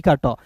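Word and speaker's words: coat: जैसे सी ओ ए टी को क्या पढ़ते हैं दोस्तों? सी का क टी का ट ओ ए है तो इसका उच्चारण ओ के रूप में कोट। जैसे दोस्त नया-नया शादी लग रहा है।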